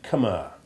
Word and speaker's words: Khmer: alien to English, and you can regard the H as silent in words like Khan, Khaled, and Khmer. Except to the extent that you can't help making a very slight H sound as you change letters, as in Khan and Khmer.